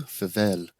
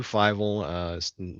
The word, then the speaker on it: Fievel: Fivel? You're muted, but I could tell by the enunciation that I said it wrong. You're muted in Still, Zoom. there it Yeah, is. I'm still getting used to this. Yeah, you called it Fievel.